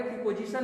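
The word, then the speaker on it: preposition: इसको प्रीपोजिशन नहीं प्रीपोजिशन पढ़ेंगे। क्या पढ़ेंगे? प्रीपोजिशन नहीं प्रीपोजिशन पढ़ेंगे। यहाँ पे जो आपका ओ है, यहाँ पे ओ है, ठीक है ना। इसका जो हम उच्चारण करते हैं वो आ का लेते हैं, ओ का नहीं लेते हैं, ठीक है। प्रीपोजिशन बोलते हैं।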